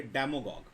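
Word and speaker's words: demagogue: Next है, इस पैडागॉग से बना एक वर्ड, गॉग से, डेमोगॉग। डेमोगॉग, डेमागॉग, DEMA, डेमा, और गॉग की स्पेलिंग वही रहेगी, GOGUE, डेमागॉग।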